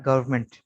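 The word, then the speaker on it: government: एन कब silent होगा, यहाँ देखें, आमतौर पर ये एम के बाद आ रहा है, ऑटम, कॉलम, डैम, और यहाँ गवर्नमेंट, यहाँ पर एन साइलेंट है, गवर्नमेंट।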